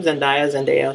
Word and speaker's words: Zendaya: So since they weren't on board with it, that's why Zendaya, that's you say her name, Zendaya, she dropped out, and they got Alexandria Shipp to play her.